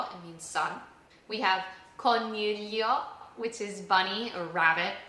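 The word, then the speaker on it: coniglio: We have cornelio which is bunny or rabbit.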